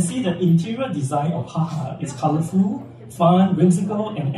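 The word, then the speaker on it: JAJA: place for you so it's pronounced as haha because it's Spanish yeah as you can see the interior design of haha is colorful fun Whimsical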